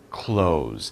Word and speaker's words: clothes: But it's the same pronunciation. Clothes.